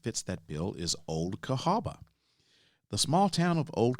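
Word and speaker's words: Cahawba: you about that you can visit is Old Cahaba and it's spelled c-a-h-a-w-b-a Old Cahaba Alabama now as I've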